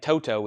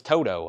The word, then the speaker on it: Toto: smiley smile it's like people saying Toto is Toto I was like well they should replace the second t or the yeah the second t with a D Joan armatrade and track